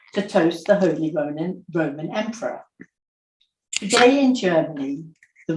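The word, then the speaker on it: Römer: toast the holy Ronin Roman Emperor today in Germany the Roma is regarded as a traditional toasting glass and the English pronounce it rumor France in the last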